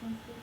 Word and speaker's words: Sanskrit: How do you say Sanskrit? Well, let's parse it out. Please. So I'm going to write it. Say Sanskrit. Sanskrit. Exactly, like sand.